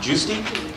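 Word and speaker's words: Giusti: Last name is spelled G I U S TI. Juicy in Lakeport.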